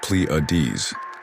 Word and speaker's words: Pleiades: I'm talking about the Pleades which is pronounced Pleades.